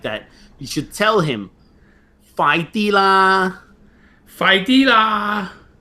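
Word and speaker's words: 快啲啦: you should tell him, "Fai di la, Fai di la, fai F-A-A-I, fai di, like the letter D, but you say it short and loud.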